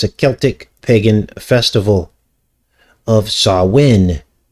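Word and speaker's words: Samhain: Well, it's a Celtic pagan festival of Sawin, which is actually spelled S A M H A I N, but it's pronounced Sawin.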